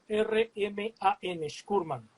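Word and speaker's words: Shkoorman: se escribe S-H-K-O-O-R-M-A-N, Shkurman.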